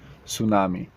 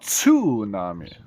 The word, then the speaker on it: tsunami: tsunami a natural disaster tsunami yes not tunami Tsunami Tsunami one of